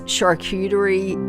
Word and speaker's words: charcuterie: Charcuterie is a French word, as I mentioned, and that has been pronounced slightly different in different countries, but in English we're saying it charcuterie.